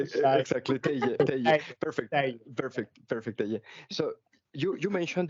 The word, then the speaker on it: Teije: But it's pronounced as Teije. So the J in our language is not a G, or as you do it in Spanish, but more of a Y. Exactly, Teije.